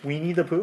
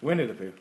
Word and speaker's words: Winnie the Pooh: Weenie the Pooh? Weenie the Pooh? Winnie the Pooh.